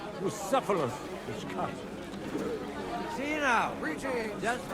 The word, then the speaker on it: Bucephalus: What kind of name is Bruce Phallus, anyway? It's pronounced Bucephalus, which comes.